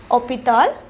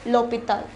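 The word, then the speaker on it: l'hôpital: with a vowel however it begins with the h which is silent we already learned what is called the h mu since it is pronounced opital we place l a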